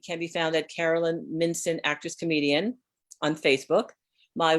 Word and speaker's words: Mincin: No, it is not pronounced Mincin like the rest of my husband's relatives want to call it. I'm like, there's no CH in there. It's Mincin.